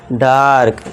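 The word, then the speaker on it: dark: अब देखिए ए के बाद आर आए। आर आ रहा है तो बस फिर आ का साउंड हमने लगा दिया यहां आ का। अब बस फिर क्या करना है? क बस ऊपर र। तो इसे क्या पढ़ेंगे? अब बन गया ये डार्क।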